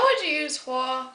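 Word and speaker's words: 火: radical for fire it's it's pronounced Hua and you can see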